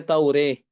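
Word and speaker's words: التوراة: Kemudian Imam Ibnu Dakwan juga mengimalahkan kata Taurah. Ya, dibacanya Taureh.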